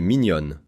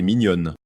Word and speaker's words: mignonne: If the dog were female, we would say ta chienne est mignonne. Pronunciation difference. Mignon ends with a nasal sound, while mignonne ends differently, so the pronunciation changes.